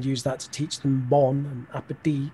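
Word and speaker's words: bon appétit: that to teach them bon appetit right yeah and as well as some of their pronunciation because everyone knows it's bon appetit it's not you know bone appetite or whatever right yeah so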